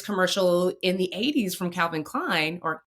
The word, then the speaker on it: Calvin Klein: I can't say largely influenced, but you can tell there was some influences by this commercial in the 80s from Calvin Klein or Clavven Klein.